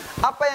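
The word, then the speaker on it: ء: Hamzah ketika disebutkan pita suaranya tertutup.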